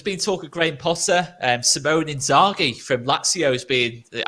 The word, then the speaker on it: Inzaghi: It is Simone Inzaghi, by the way, Hal. Not pronounced Simeone, isn't it?